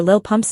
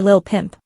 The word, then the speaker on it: Lil Pump: campaign rally in Michigan Trump famously mispronounced rapper Lil pump's name presenting him as a lil pimp aoic as he invited